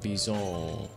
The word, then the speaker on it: Bison: We got Gene, John, Bison, whatever his name is. But it's like pronounced like French, like Bison.